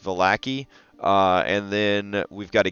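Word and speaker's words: Vallaki: We're gonna be working on the village of Valakai. Raw, it's pronounced Valaki.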